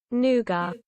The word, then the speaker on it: nougat: that nougat nougat nougat nougat dictionary I never knew how to pronounce it nougat let's see what the British say nuga nougat wait so here's the American pronunciation here's a British no one will understand